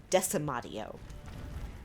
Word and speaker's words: decimatio: deca motto which we word pronounced as decima do which sounds like decimate doesn't it it means